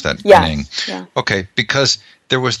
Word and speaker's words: Ng: Okay, I was really taken aback by the material from Kohler and is it pronounced Ng? Yes. How do you pronounce that? Yes. Ng.